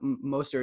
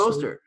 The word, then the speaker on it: Mostert: That's one reason I like Mostert is that even if he only plays 55%